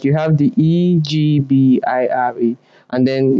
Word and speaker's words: Ebira: I'm calling Egbira, and then it's spelled without the G. And most times I'm pronouncing it like you have the Egbira, and then it's spelled Ebira.